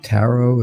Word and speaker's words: tarot: yeah they're different yeah it's taro if you spell it this way right t-a-r-o-t if you keep going if you